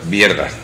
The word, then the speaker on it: Wierda: Y tu apellido es pronunciado en español con W, Vierda, que se pronuncia... Vierda. Vierda, bueno, ahí está casi, casi.